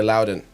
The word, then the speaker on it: Liaudin: entrepreneurs podcast we have Jess Ladon is it not right close enough close enough yeah on Americans say Loudon actor performer UFC veteran